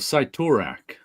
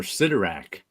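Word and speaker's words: Cyttorak: magic the scarf of citac or citak how do you say that I say citak yeah I think I've always said citac but I've heard other people say citak so I don't know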